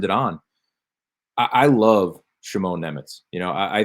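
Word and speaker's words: Šimon: it kind of matters shimone sh sh gotta put that little sh at the front end of it right yeah yeah and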